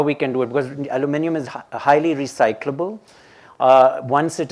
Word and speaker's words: aluminium: And that's where the next book on aluminum, and I keep saying the American pronunciation, aluminium will be important, because